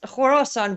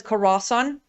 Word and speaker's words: Khorasan: Now could I think part of Horas- Horasan would be part of it? Yes, and that is by the way pronunciation. Have you you know ISIS-K? Meaning ISIS Khorasan.